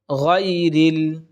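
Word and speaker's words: غير: এরপর দেখুন গায়রিল, গায়রিল, এখানে একটা মারাত্মক ভুল করে থাকি, আমরা অনেকে পড়ে থাকি গায়রিল, গায়রিল, এই গায়রিল যদি আমরা বলি সম্পূর্ণ ভুল হয়ে যাবে, বলতে হবে গায়রিল, গয়রিল।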